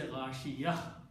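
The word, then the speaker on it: غاشية: So full word is ghashiyatun. If we stop, we say ghashiyah. Last letter should be pronounced as ha.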